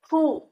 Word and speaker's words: Hu: Hu, pronounced like who, which is associated with the spleen.